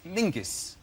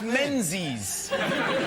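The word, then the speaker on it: Menzies: His name is Mingus. Mingus. Yes. Gos. Yeah. Ming. Yeah. But it's pronounced it's it's spelled M Z I S.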